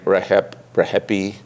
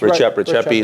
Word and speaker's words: Rexhepi: People pronounce his name Rexhepi. I heard people say Rexhep. Yeah, it's Rexhepi is what I heard.